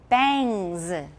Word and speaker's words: bangs: All right, 刘海 bangs. Bangs. Ang 是肮脏的 ang, 然后呢母音是 a.